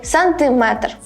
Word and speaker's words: сантиметр: закричи і біжи свої В усіх словах які позначають міру довжини та мають частинку метр наголос падає саме на цю частинку міліметр дециметр сантиметр СМИ великої години зпошеж